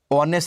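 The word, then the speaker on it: honest: ऑनेस्ट से पहले एन आएगा क्योंकि एज साइलेंट है।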